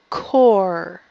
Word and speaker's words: core: like in apple core core core remember that e is silent core great job now